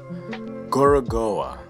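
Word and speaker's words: Gorogoa: are in the forest and work another seven gorgoa yeah that's how you say it an incredibly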